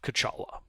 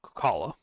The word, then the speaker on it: Kala: Nightfalls a day and another night and another day and you find yourselves entering the village of Kachala. And uh sorry I mispronounced that. It was Kala.